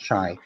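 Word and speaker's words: Shay: surprisingly saying it correctly i spell it s-h-a-y but yes it's pronounced chai s-h-a-y we were we were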